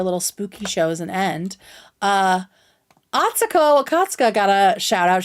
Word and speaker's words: Atsuko: And Atsuko is how you say her name, by the way, everyone.